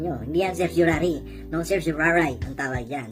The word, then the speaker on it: certiorari: Yun ang tawag doon is certiorari. Sabi nga ng ating nasirang si Senadora Miriam Defensor Santiago. Sa amin kasi sa law school minsan sinasabi nung araw, certiorari.